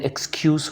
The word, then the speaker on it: excuse: ہوتا ہے بہانہ بنانا۔ اسٹوڈنٹس ایکسکیوز جو ہے اس کو ورب اور ناؤن کے طور پہ جب دیکھتے ہیں تو اس کا تلفظ ڈفرینٹ ہو جاتا ہے۔ جب یہ ناؤن کے طور پہ ہوگا تو ہم اس کو پڑھیں گے ایکسکیوز، اور جب یہ ورب کے